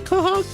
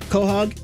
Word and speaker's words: Quahog: How do you say Quahog? Quahog in the Family Guy land.